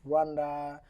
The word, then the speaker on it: Rwanda: So after when you return back to Rwanda, am I pronouncing it correct? Yes, Correct, Rwanda.